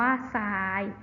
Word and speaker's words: ทราย: นะ คะ ก็ คือ การ ออก เสียง ทอ นะ คะ เป็น สิน ซอ ก็ อย่าง เช่น คำ ว่า ใส่ นะ คะ คำ ว่า ทราบ อ่าน ว่า ทราบ นะ คะ ทราย อ่าน ว่า ทราย แทรก อ่าน ว่า แทรก นะ คะ เด็ก ๆ